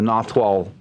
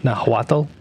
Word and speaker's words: Nahuatl: But number two, I will have a difficult time properly pronouncing the Nahuatl words that are involved in this book. You mean Nahuatl? See? I haven't even started, and I've already messed it up.